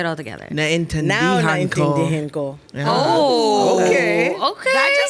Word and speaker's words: naintindihan ko: The Filipino word of the day, phrase of the day is naintindihan ko. Whoa. Naintindihan Lots of syllables. ko. Okay. Oh, okay. Naintindihan ko. Tindihin. Nain Nain. tindihan Tindihan. ko.